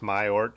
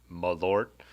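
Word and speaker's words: Malört: Wait, is it pronounced Myort? I've been saying Malort. I have no idea. I think you're right. I think it's more like Malort. I keep saying it like it's a French word or something, so.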